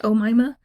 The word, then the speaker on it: Omaima: So it's Omaima, pronounced Omaima, Nelson.